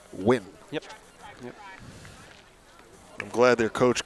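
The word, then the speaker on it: Nguyen: it's spelled ng u ye n but it's pronounced win yep I'm glad their coach clarified that for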